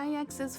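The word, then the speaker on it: IX: just a dream and ex's followers seem to like that claim it really bothers me that that name is apparently pronounced ex and not either X or nine I'm Batman it's okay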